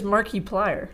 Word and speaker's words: Markiplier: guy's username I'm markiplier I read it is markiplier that's like I put an emphasis on the I hate that definitely market